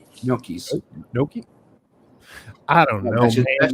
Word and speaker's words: gnocchi: How do you pronounce it? No, those potato and noodles type of thing. Nookies, not Noochies. Gnocchi. Gnocchis.